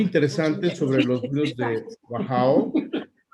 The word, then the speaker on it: Wachau: es muy interesante, que son los vinos de Wachau. Did I pronounce it well, Annemarie?